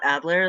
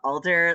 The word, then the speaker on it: Alder: it's culture cool yeah it's not Adler like um Sherlock Holmes it's uh Alder like the tree yeah oh oh yeah